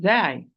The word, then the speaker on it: ز: They are the end of the tip, end of the tip, with the bottom of the lower central incisors from inside.